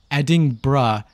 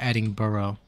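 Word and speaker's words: Edinburgh: of Brazil is Brazilia eding bruh is how you pronounce it not eding burrow sorry I didn't know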